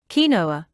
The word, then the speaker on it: quinoa: Quinoa. Quinoa, pronounced quinoa, is a nutritional all-star that belongs in your weight loss plan.